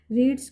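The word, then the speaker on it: read: फिर क्या हुआ है, रीड्स क्या है, प्रेजेंट इंडेफिनिट है, इसकी सेकंड हम फॉर्म यूज करेंगे, तो लिखने में वो ऐसी ही रहती है लेकिन रेड बोलते हैं इसको, हम प्रोनाउंस करते हैं रेड।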